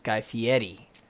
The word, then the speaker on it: Guy Fieri: be it's guy fieri not guy fieri it's guy fieri i don't pronounce most things correctly so this may also